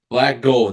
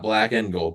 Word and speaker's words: Black Gold: Super Chat the corre Black Gold not black and gold black gold 1999 so appreciate it